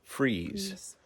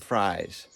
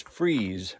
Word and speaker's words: Fries: This is spelled F R I E S, but it's pronounced Freeze, not Fries. So, you know, the people around here will correct you if you say it wrong. So, so yeah. So, it's Freeze, Virginia.